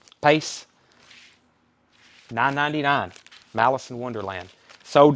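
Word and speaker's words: Paice: pace how do you say his last name pace 999 malice in wonderland sold to richard davis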